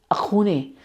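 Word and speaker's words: Axone: appeared in 2021 and the film which is pronounced as akun it goes as a x o n e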